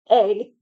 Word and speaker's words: Aang: Aang, not Ong like it's pronounced in this movie, goes through no character development by the end of the movie.